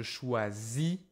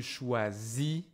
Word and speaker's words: choisis: Je choisis. Tu choisis, on choisit. Je finis, tu finis. On finit. As always, I don't hear the s.